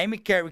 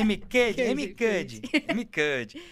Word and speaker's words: Amy Cuddy: O Pablo Marçal fala, a Amy Cary, que é uma escritora americana, tem no livro dela, Amy Cary, né? Isso. É isso? Tô certo? A pronúncia? É mais ou menos isso. É Amy Cuddy.